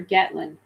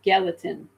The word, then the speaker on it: Gallatin: If I said it, did I say it right? Gallatin or Gatlin? It's Gallatin.